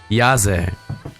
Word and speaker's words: Yazzehh: all I want to know it's yes it yahzee okay now I'm gonna tell you that wherever you pronounce it right and then I'm gonna forget